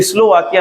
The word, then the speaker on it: स्लोवाकिया: स्लोवाकिया नहीं पढ़ा जाता है, इसको स्लोवाकिया पढ़ा जाता है। स्लोवाकिया ये दंती सा है, और जब दंती सा कभी आधी लिखी जाए और इसके जस्ट बाद का से माँ तक कोई वर्ण आ जाए, तो फिर इस सा का उच्चारण हम लोग ई से करते हैं।